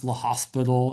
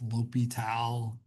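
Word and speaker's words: L'Hôpital: Um, doesn't really matter, but it's not pronounced the hospital. It's Lal.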